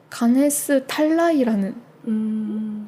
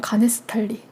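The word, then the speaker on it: Ganesh Talai: 들리는 대로 발음을 하니까 가네스탈라이가 가네스탈리가 된 거죠.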